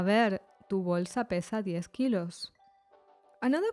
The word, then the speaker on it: kilos: Kilos is the same as in English, except the pronunciation of the O changes to O. Kilos.